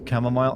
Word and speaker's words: chamomile: It's pronounced chamomile.